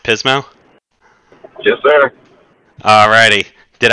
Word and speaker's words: Pismo: director at the Haven at Pismo sat outs pronounced Pismo yes sir all righty did I miss anything